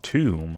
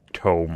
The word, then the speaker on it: tome: Built lore tomb. Or tome, I suppose how it would be pronounced, but now we got that as well.